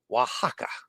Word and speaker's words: Oaxaca: I didn't know that the oax in Spanish is pronounced wa Oaxaca and I should have